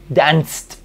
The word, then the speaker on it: danced: s entonces digo Dance danced baile toda la noche danced I danced All Night al borrar en la pronunciación esta e y quedarme con el sonido de la t entonces este sonido esta